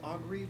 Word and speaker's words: Augury: I believe it is pronounced augury, but yes.